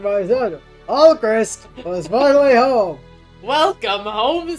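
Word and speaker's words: Alcryst: Alchrist, thank you, father. It's pronounced Alchris, though, like Crystal, but with the L in front.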